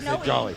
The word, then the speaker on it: Jolly: Sally Sally Thank You Jennifer valley nope jolly I was gonna say jolly like oh yeah okay Jennifer Valley just went on stage